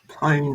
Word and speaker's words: pwned: Pwned, I believe you pronounce that.